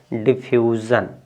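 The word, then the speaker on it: diffusion: इसको ज, इसको यस स पढ़ना चाहिए ना, यानी SIO है तो इसको स पढ़ना चाहिए, लेकिन इसको ज पढ़ेंगे। देखिए इसको पढ़ेंगे डिफ्यूज़न।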